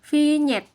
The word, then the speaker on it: vignette: pada materinya 5 vignete ini tulisannya vignette Tapi bacanya Finnet nah Apa itu vinyard